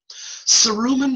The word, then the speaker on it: cerumen: Cerumen means earwax. And think of the word cerumen. I'll stop sharing for a second. Cerumen rhymes with, is close to the word sincerely.